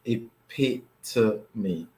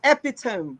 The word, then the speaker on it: epitome: to give it away the word is pronounced a p to me epitome d p to me it pits me all right it's not epitome ladies and gentlemen which many of you say the epitome of beauty the epidemic no it